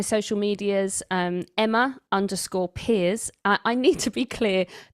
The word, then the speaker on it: Pears: medias um Emma underscore peers I need to be clear that it's spelled Pairs and pronounced peers because it's French that was a very